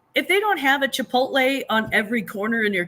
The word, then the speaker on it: Chipotle: see it chipot here chipot chipot what do you say it's Chipotle chipot Chipotle Chipotle exactly